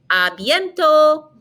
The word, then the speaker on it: à bientôt: Notice we're not pronouncing the T on the end, so it ends in an O sound. A bientôt.